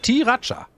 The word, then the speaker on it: Sriracha: Das heißt Sriracha.